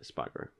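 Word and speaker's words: Espargaró: Espargaro? Yeah, that's how you say it, Espargaro.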